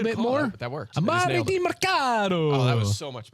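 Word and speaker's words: Demercado: Amari DiMercado. I think what you have to do is pronounce it in a very Italian way. DiMercado.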